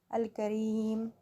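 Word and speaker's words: الكريم: Pronounce this name with me, Al-Kareem.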